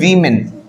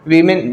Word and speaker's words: women: है according to द वीमेन. बेटा यहाँ पे वर्ड कौन सा दिया हुआ है? वीमेन. वीमेन we should not pronounce it एज वुमेन, we have to pronounce it एज वीमेन.